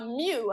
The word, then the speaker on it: mu: a fancy M and oops not new it's spelled m u me now the Mew